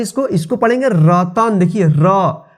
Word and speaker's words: रतन: सबसे पहले उच्चारण रतन, देखिए रतन, लास्ट में न आ रहा है, इसमें अ की साउंड नहीं आ रहा है। देखिए यहाँ पे रतन, रतन, रतना नहीं पढ़ते हैं, क्या पढ़ते हैं इसको?